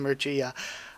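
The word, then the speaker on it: Mirchea: grace mercia was like i always pronounce his name wrong i've just been in such a habit of saying mache rather than mercia but i think he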